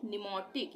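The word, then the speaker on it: pneumatic: सी, इसको हम पढ़ेंगे निमोटिक, यानी कि यहाँ से उसका उच्चारण शुरू होगा, एन से, पी का उच्चारण नहीं होगा, निमोटिक।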